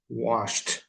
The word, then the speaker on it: washed: o ed, regra geral, washed. A pronúncia aqui é um pouquinho diferente, tá bom? O ed tem várias pronúncias no passado, tá bom? Uma delas é a pronúncia do t, washed.